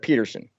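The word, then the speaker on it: Pedersen: of the rifle that Peterson and that's spelled with a D but it's pronounced like the T in trials it handily defeated it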